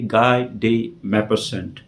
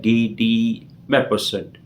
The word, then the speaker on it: Guy de Maupassant: इसके जो राइटर है वो है गाय डे मैपरसेंट। हालांकि इसको फ्रेंच में अगर अपन प्रोनाउंस करेंगे तो कुछ इस तरीके से होता है गी डी मैपरसेंट। It's typical to pronounce in a French language.